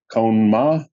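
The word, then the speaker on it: Kohn-Ma: same thing I actually wrote it out phonetically cone ma is that right yeah it's kind of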